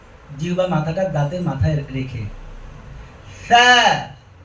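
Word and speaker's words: ث: আমার শক্তি দিয়ে বলবো না, আলতো করে, দুর্বল করে লাগিয়ে, আলতো করে আমরা লাগিয়ে বলার চেষ্টা করব। কিভাবে? আবার বলছি, সা সা সা। অনেকে সা বলার সময় নিচের দাঁতে সাপোর্ট নেন, সা সা, এটা ভুল, ফাঁকা থাকবে।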